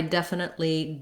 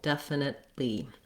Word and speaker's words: definitely: And there I definitely don't want to do my T sound. So it sounds again like def, nit. I move up to that T and then I release it right into the L of the li syllable, definitely.